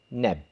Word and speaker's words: Neb: This sign here represents a basket, and in ancient Egyptian language it's pronounced Neb, and it means Lord.